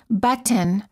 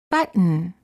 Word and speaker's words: button: the T for example we don't say button or button we say button hold the t as in but and then add an N without releasing the tongue from the gum Ridge Buton similarly don't say